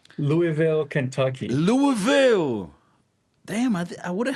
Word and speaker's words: Louisville: Anyone from Louisville? From what I understand, that's how you pronounce it. Louisville. Louisville. Not Louisville. Louisville.